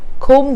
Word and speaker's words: comb: about this usage also comb the room now the word K it's not com right it's com B is silent now this means to